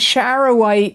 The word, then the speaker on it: charoite: vision and it's a good grounding Stone it is spelled because somebody asked me this last time it came up c h a r o i t e charoite it's going to help you be at